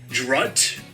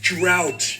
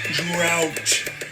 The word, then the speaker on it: drought: would be D Dro no I mean drought no drut no it's drought you don't what see ow drought remember just because they're spelled the same doesn't mean they sound the same that is all we